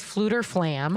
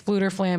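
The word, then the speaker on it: Fflewddur Fflam: they free um this Minstrel his name is fluter flam I'm gonna spell it okay slam flam fluter flam I'm gonna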